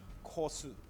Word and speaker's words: gosu: of you guys watching gosu is Korean proper pronunciation is kosu K interesting and it means